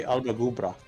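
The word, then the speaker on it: Alba gu bràth: See, if you wanted to technically say that correctly, it'd be Albagubra.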